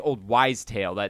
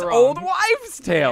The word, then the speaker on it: old wives' tale: I'm like, no, it's actually old wise tale. That's how you say it. And everyone in the room went, oh, okay. And believe me. And then I looked it up later and it is old wives tale.